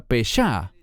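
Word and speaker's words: פשע: Y en el inicio de este estudio vemos esta primera palabra pesha, pero esta se pronuncia pesá y se relaciona con una transgresión que se hace de forma consciente y voluntaria.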